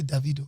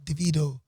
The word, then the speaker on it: Davido: So when they tell me his name, say it how you say it in my dialect, which is Davido. DaVido. No, Davido. DaVido. No, Vido. Hey.